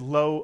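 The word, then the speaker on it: לא: of the lamid and the word ends with a silent Olive so the word is pronounced low or low and this is the Hebrew word for no to say no in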